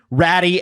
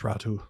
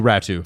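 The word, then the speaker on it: Räty: their names are Sassin, Ratty, and Aman. I believe it's Ratu. Oh, Ratu because Finns like to be like Atu Ratu. That's how you say it.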